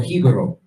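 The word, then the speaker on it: Jíbaro: for example, Hibaro, or Hibaro is the real pronunciation of it. That's what they called the Tainos who fled into the mountains in order to hide from the Spanish. Hibaro, if you go and you remove the J, you understand, which didn't even exist, it's Ibero.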